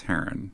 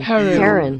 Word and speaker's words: heron: He. Run. Run. Heron. Wait, no, hold on. Now I'm confused. Is it heron or heron? Stress on the first syllable. Okay. Heron. Yeah, okay.